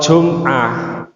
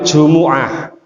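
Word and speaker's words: جمعة: kita salah ucap Pak Jadi kalau jumah itu bahasa Indonesia Kalau bahasa Arabnya itu Jumuah Makanya kalau di al-qur'an itu suratnya surat aljumuah bukan surat aljumuah ya jadi pengucapan artikulasi dari bahasa Arabnya itu aljumuah bismahirahmanir asalamualaikum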